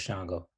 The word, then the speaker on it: Sango: It's spelled Sango, but it's Shango.